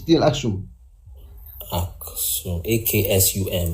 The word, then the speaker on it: Aksum: Aksum.